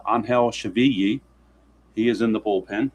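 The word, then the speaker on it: Angel Chivilli: That's how it's pronounced, Angel Chavilli.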